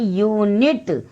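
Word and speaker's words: unit: जैसे ये यू से तो स्टार्ट है बट इसका जो प्रोनाउंसिएशन है इसको बोलते हैं यूनिट। तो हिंदी जो उच्चारण है वो यहाँ पर आ रहा है या, यानी वाई, तो वो कंसोनेंट हो गया।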